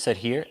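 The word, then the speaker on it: Saheer: hear you okay okay my name is sahir s-a-h-e-e-r so here so here at Alabama no no no s s for Sam a for apple 8 for hotel so here s-a-h-e-e-r it's spelled with two e's Tom get it right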